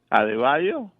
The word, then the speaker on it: Adebayo: Adebayo? No, that's his last name. That's how you pronounce his last name.